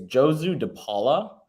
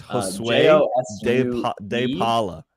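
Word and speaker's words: Josué De Paula: Yeah, it's I don't know how to say it exactly. It's Josu De Paula. It's Josue De Paula.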